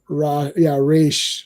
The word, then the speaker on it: Ra's: Yes, it's Raish, like Rashalgo. Whatever.